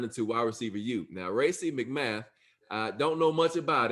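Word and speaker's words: Racey McMath: sixth round of course um so right race racy mcmath is that how you say it it is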